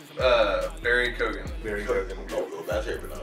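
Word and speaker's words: Barry Keoghan: Barry Kogan. Very good. Oh, that's how you pronounce it.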